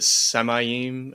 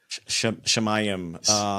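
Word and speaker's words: שָׁמַיִם: Like, I know is it Samayim? Is that how you say it? Shemayim.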